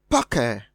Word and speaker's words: pucker: Option C is pronounced pucker. Option D is pronounced public. So, going by that, we have mulatto having the stress on the second syllable, which is different from mystery on the first, pucker on the first, and public on the first.